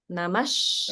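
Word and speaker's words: namaḥ: the first word namaha so namaha ends in visara and when visara is followed by a sh sound like shamb the visara is pronounced in as Sha so it actually becomes namash and there's holding on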